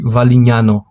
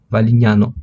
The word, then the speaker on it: Valignano: Escreve-se valignano, mas pronuncia-se valino. Valinano.